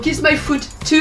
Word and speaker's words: Kis-My-Ft2: et leur nom donc qui normalement se prononcer kiss my food at the kiss my food tout il ressemble plus à